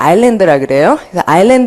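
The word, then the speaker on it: island: 되니까 러분 섬을 이제 요거 S 발음을 안 합니다 아일랜드라는 온 아이라는 말은 섬이 아무래도이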